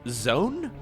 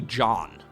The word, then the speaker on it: Zoun: Actually, apparently some players say that you're supposed to pronounce his name not as Zoun, but it's like Zoun, or like Zoun, or Zoun. I've even heard somebody pronounce this username dangerously close to John. Which, you know, I don't know how you're... I'm just gonna go with Zoun, okay? That's how you would pronounce it in Dutch. John definitely is incorrect, though.